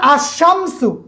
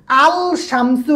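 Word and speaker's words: الشمس: যেমন আশামসু, এই শিনের উপর তাসদিদ আইছে, শিনের উপর কি তাসদিদ, শব্দটা দুইবার উচ্চারণ হয়েছে, কিন্তু এখানে এই যে একটা লাম আছে, আল শামসু হয় না, আশামসু।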